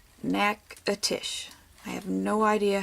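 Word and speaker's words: Natchitoches: Now I like to call it nacho cheese, and some might think it's nachitoshes or nachitochies. Don't know. It is actually said Nakatish. Nakatish.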